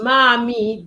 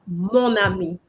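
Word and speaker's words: mon ami: going to keep just for pronunciation purposes because mami doesn't sound as nice as monami and with a compulsory.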